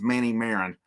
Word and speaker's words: Marin: doubt krenzel Manny Maron I've been saying Marin I I was told it was Marin at one point I've heard it pronounced that it is Manny Marin it's been confirmed Braden